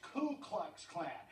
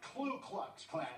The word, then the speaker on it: Ku Klux Klan: And by the way, to all the experts out there on Klansmen, it's Ku Klux Klan, not Klu Klux Klan, all right?